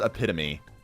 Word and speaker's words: epitome: Do you pronounce it epitome as epitome or epitome? It is epitome, but it's just the English language doesn't support that very well.